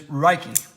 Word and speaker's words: Ruike: that you spell Huck the only way that this is has a similarity with rake is that it starts with the R sound it is rikey and that is the